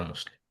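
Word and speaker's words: مسلمة: আর এখানে কিন্তু তা বোঝা যাবে না, এটা হবে হায়ের মতো একটা সাউন্ড আসবে, মুসলিমা।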